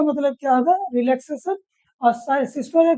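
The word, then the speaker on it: systole: सबसे पहले सिस्टोले होता है एंड डिस्टोले होता है। सिस्टोल डिस्टोल भी बोल सकते हो, पर असल प्रोनाउंसिएशन क्या होता है? सिस्टोले है, डिस्टोले।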